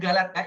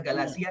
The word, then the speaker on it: Galatia: Ya, bacanya Galatia, Ibu Bapak ya, bukan Galatia tapi Galatia. Oke, terima kasih.